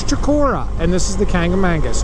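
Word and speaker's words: Chocorua: That is right above it, right in front of us there, is Mount Shakora. And again, there's another alternate pronunciation. People say Chikoroa or something like that. I don't know. It's Chikora, and this is the Kangamangus, okay?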